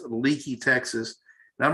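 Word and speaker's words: Leakey: here's lakey texas it's pronounced l-e-a-k-e-y but it's pronounced leaky texas and i'm not gonna show you exactly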